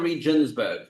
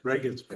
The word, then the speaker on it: Regensburg: Can we obligate other communities in the empire to pay to help ransom these Jews from Regensburg? Is it Regensburg or Reinsburg? Regensburg.